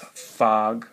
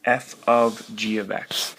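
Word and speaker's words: f∘g: It's not pronounced fog, okay? It's f of g of x.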